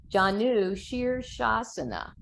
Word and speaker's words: Janu Sirsasana: number of ways so uh can you say Janu sure sauce enough and Kelly's really good about spelling out the pronunciation you can see it there John new sheer shasana foreign okay excellent nicely done okay so let's